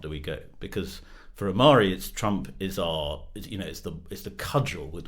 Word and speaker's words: Ahmari: quite obscure American journalists, David French and Sohrab Ahmari. Am I pronouncing Ahmari's name right?